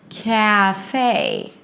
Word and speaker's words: café: the end okay so it's about stretching the two syllables CA it's like you're saying it in slow motion Cafe now since uh you